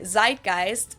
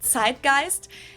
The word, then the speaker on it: Zeitgeist: Americans usually say Zeitgeist. In German we pronounce it Zeitgeist, and this consists of the word Zeit, which means time, and Geist, which means spirit.